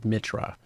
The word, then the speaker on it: Mitra: stuff like that but nobody ever says it correctly which is Mitra but I've you know